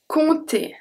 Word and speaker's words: compter: So the first one, compter. Compter, so I don't pronounce the P.